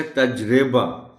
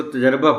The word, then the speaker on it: تجربہ: بھی بتائیے گا کہ ہم عام طور پر اس کو تجربہ پڑھتے ہیں۔ تجربہ بالکل غلط ہے۔ تجربہ اور تجربات، یہ ہے اس کا درست تلفظ۔ بہترین، وہ جیسے اس